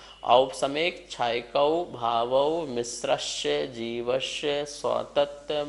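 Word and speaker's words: औपशमिक: सब में औ लगा है, इस बात का ध्यान रखेंगे। ओ नहीं है, औ है। औपसमिक, छायकौ, भावौ, मिश्रस्य, जीवस्य, स्वतत्व, मौदयिक, पारिणामिकौ च।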